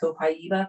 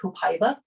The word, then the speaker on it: copaiba: tree in brazil and that is how you say it copaiba but you may hear it called copaiba and it's the same